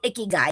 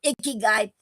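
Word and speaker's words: ikigai: Ick as in kiss. That's what they wrote down when you look in the how you pronounce it. And k i k is like like wait if I remember right. And oh k is like key.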